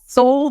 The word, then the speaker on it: Sol: opened a practice called Soul direct Primary Care soul is spelled s-o-l and that is a